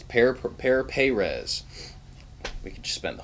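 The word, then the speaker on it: Pere Pérez: Is that Father Perez? It's Pear Perez.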